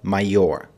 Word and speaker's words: Major: a short time later ranked as a major or mayor as it's pronounced in german about six weeks into